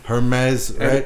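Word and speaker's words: Hermès: wrong so the run her mez right what's that one you would definitely leave out the H like a lot of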